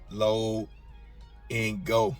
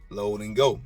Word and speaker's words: Load N Go: it i've had to correct some people on the pronunciation of it low and go all right load and go now you do yours